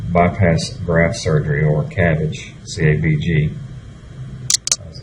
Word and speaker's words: CABG: Coronary artery bypass graft surgery, or CABG, CABG, as it's commonly pronounced, is typically recommended when there's a disease